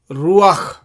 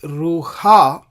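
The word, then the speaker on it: רוח: And this is how we pronounce it, ruach. We don't say ruha, but we say ruach. That means the sound of the patach comes first and then the letter het.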